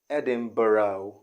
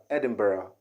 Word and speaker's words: Edinburgh: which is also wrong the right pronunciation here okay is edin edinburgh edinburgh not edinboro not the o not o but edinburgh edinburgh or you can also say edinburgh edinburgh which is really british okay in british english